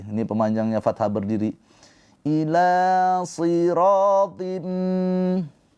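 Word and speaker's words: صِرَاط: Ila siratim. Ingat sh ini huruf tebal ya. Ketika kasrah dia tetap tebal.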